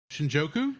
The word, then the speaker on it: Shinjuku: I'm going to mispronounce Shinjuku. Shinjuku?